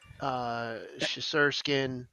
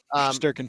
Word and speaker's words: Shesterkin: All of those Russian stars, like hell that they would love to have Ovechkin, Vasi, Shesterkin, and I screwed his name up. Shesterkin.